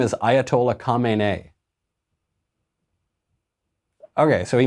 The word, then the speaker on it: Khamenei: The new guy's name is Ayatollah Khamenei. Okay, so he mispronounced the name. It's pretty close. It's not like he confused him with John Smith or something. It's Khomeini and Khamenei.